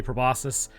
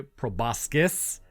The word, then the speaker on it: proboscis: things about proboscis is in the scientific field you say proboscis but in everyday language I've heard people say proboscis with like a c like a hard C I don't really care